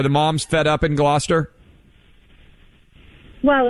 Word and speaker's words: Gloucester: Gina in Gloucester, is it Gloucester, Mass? Yep. How do you pronounce the town?